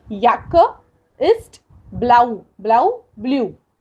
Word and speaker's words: Jacke: तब हमने देखा था जे का प्रोनाउंसिएशन यट करते हैं, तो इसलिए दी याक्के इस्ट ब्लाउ, ब्लाउ ब्लू।